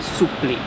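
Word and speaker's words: supplì: to clarify it and it's just a mispronunciation actually of the french word supreme's surprise the surprise was too long and elegant and quickly became souply s-u-p-l-i much easier to pronounce if you're native italian and the surprise is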